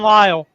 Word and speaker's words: Lyle: Lyle, by the way, because I know I mispronounced his last name. Ron Lyle.